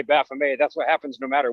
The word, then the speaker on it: Baphomet: esoteric topics and um when we said baphomet she corrected us that it's baphomet and so then you know we had a little discussion briefly about how that there really isn't a guaranteed pronunciation and nobody knows for sure but that you know whatever you prefer is fine and somewhere in that